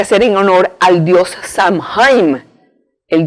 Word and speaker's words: Samhain: lo tienes que hacer en honor al dios san jaime el 2 san san jaime se escribe s a m h n este dios